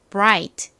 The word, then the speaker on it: bright: bright 한 번 더 bright 좋습니다 이렇게 I GT 자음의 뒤에 오는 경우에는 아는 I 소리가 나고는 트 소리가 나고 gh n 이렇게 t 함께 쓰인 경우는 소리가 나지 않으니까 아 소리가 된다라고 설명드렸던 거 다시 한번